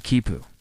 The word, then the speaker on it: quipu: A kipu pronounced kipu is essentially a collection